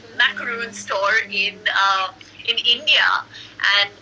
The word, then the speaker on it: macaron: who started a macro that's how the French pronounce it macaron store need in India